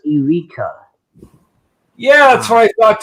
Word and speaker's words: Eureka: Wait, it's pronounced Erica 7. I thought it was Eureka.